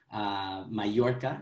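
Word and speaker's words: Mallorca: Majorca is the way you would pronounce that in Spanish. And many people pronounce it Majorca if you're coming from Argentina, for example.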